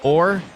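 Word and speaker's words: Orre: They pronounce it or in game.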